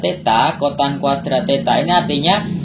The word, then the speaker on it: theta: Jadi ini bacanya theta ya, theta, bacanya theta.